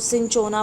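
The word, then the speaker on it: Cinchona: छाल को, तो वो होता है सिनोना। कौन सा? सिनोना बोल सकते हो, सिंचोना बोल सकते हो, जैसी भी आपकी प्रोनाउंसिएशन है।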